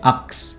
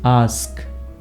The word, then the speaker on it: ask: y Wednesday a ax we always say ax it's not ax it's ask in this way you